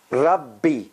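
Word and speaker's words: رَبِّ: Rabbi, Rabbi, Rabbi. See, Rab, one B, B, another B.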